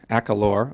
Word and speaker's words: Akalor: Okay, so let's tell everybody, is it pronounced Akalur? Akalor, okay.